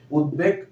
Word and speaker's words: উদ্বেগ: নিয়ম নিয়ম যেটা দেখাচ্ছে দেখ দ এর সাথে ব ফল আছে এই বটা উচ্চারণ হবে সমাস এবং সন্ধিজাত যে নিয়মটা আছে এটার সাথে মিলে যায় এজন্য উদ্বেগ বানানটা ব এর সাথে এর সাথে বফলা আছে এজন্য উচ্চারণটা মানে বফলা উচ্চারণ হবে উদ্বেগ উদ্বাস্তু একই বিষয় আর